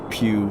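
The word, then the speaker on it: Pugh: we Pew spelled p GH who you couldn't spell it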